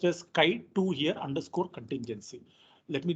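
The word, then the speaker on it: chi2: we will be importing chi-square right it is pronounced as sky 2 here underscore contingency let me just import this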